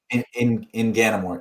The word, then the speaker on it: Inganamort: Fantasia and Inganamort, It's is that how you say it, his name? In Ganamore. Yep, that's correct.